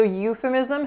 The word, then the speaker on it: euphemism: it's a euphemism so euphemism has four syllables a lot of four syllable words in our list today so our first syllable is you with that moving ooh sounds that we saw earlier the second syllable is so f schwa then the third syllables mitt with a lacks a and then our final syllable is Z schwa M ISM euphemism the next